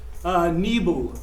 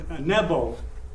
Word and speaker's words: Nebo: He's there on Mount Nebo, or Nebo, depending on your pronunciation.